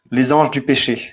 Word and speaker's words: Les Anges du Péché: Okay, so before the police gets to you, Chris, just to protect you, Les Anges du Péché is how that's pronounced.